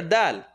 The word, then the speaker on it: دال: أَحَدٍ أَحَدٍ Noon sukun followed by, عِنْدَ Noon sukun followed by the letter dal. Where is dal pronounced? Second part of the tongue? Nope. Tip of the tongue behind the top two teeth.